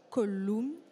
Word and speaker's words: Collum: Vous êtes avocat associé au cabinet Collum. Je l'ai bien prononcé cette fois. C'est ça. À la latine.